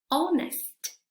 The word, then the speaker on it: honest: Aquí no cometamos el error de decir honest, ¿sí? No, es honest, honest, owner, owner, our, ability, ability, chemistry, chemistry, mechanic, mechanic, stomach, stomach, ache, ache.